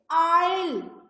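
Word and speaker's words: isle: अब देखिए आइल, ये एस जो है ये साइलेंट है, ये राइट है आइल। I say EL, आइल।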